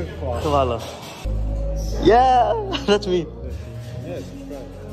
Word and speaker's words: hvala: Is it also vala or khvala? Khvala.